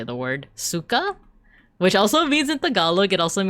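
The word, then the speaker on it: сука: So C-Y-K-A is actually pronounced S-U-K-A. Like that. But that's like, the C-Y-K-A is actually how you like spell it in Cyrillic.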